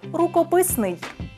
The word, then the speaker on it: рукописний: Тоді запам'ятовуйте, наголос у цьому слові падає на третю голосну і правильно казати «рукописний».